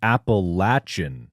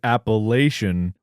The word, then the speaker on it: Appalachian: That said, we in the eastern United States pronounce the range of mountains that run from Maine to Alabama, the Appalachin Mountains. If we hear you pronounce it Appalachian, we'll throw an apple at you.